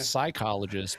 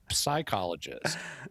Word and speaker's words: psychologist: Well, you do it all the time at the end of the word lips. Oh, yeah. So all you got to do is transfer that same sound at the beginning of the word, and it's not psychologist, but psychologist.